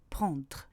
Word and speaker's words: prendre: Idem pour prendre. Je ne prononce pas prendre, mais prendre. Je prononce seulement la consonne R.